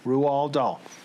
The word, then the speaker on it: Roald Dahl: R-O-A-L-D, Roald Dahl.